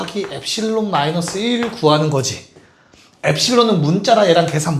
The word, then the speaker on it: 엡실론: 이 어, 엡실론. 좋아요. 엡실론이라고 읽어요.